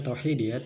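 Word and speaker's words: توحيدية: Tauhidiyah, tulisannya tauhidiyah tapi bacanya tauhidiyah karena ada tak marbutah, merupakan pengakuan terhadap eksistensi atau keberadaan Allah Subhanahu wa Ta'ala sebagai Tuhan yang Maha Esa.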